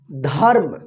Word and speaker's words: धर्म: ऊपर रेफ की मात्रा ध के बाद आधा र का उच्चारण होगा फिर म धर्म ठीक धर्म मत